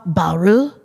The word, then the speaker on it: Bayrou: So I didn't want to, I've been mispronouncing things. And so I was like, Francois Bayrou.